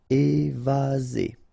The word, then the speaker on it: évasé: Remember, one S between two vowels. Z. Évasé. Courant.